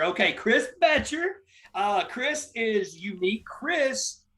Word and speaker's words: Boettcher: it up what's up man it's uh it's pronounced betcher betcher okay chris batcher uh chris is unique chris recently left his